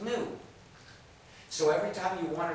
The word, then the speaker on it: gnu: countless word plays because according to the dictionary the g is silent and the word is pronounced new so every time you